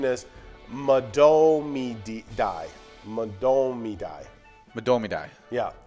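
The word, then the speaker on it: Mahtomedi: common mispronounce is um mat toe me dai so you're kind of close to that okay the actual pronunciation is die domidai madomidai yeah no mats to toes involved okay madomidai that's not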